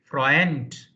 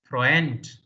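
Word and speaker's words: Freund: n n f r e u n d frent frent okay no h n and frent I and E is pronounced like long e as you have seen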